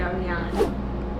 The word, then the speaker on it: Ariane: Without further ado, why do you go by Ryan if your name's? You're not even saying it right. It's Ariane.